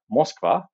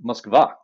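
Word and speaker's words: Москва: to pronounce them so the ukrainians did not sink the cruiser moskva they sank the cruiser muskva okay google can tell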